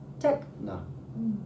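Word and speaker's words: τέχνη: Now the acute accent on the epsilon, so the one that goes up on the e, that means go up. Techna.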